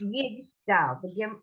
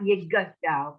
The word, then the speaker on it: Yigdal: But it's Yigdal. The shva closes the syllable, not Yigadal, but Yigdal. The shva closes the syllable when it can.